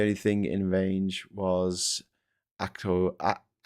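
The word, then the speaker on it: Akrotiri: The only thing in range was Acroi. Accuri is how you pronounce it.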